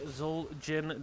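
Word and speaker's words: Xul Jin: It cowboy goes down and it looks like Zul Jin Distillery. Uh it is spelled with the X on Zul Nutcracker looking to get away.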